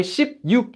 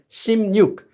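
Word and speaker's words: 십육: That's why shipyuk is actually pronounced as shimnyuk.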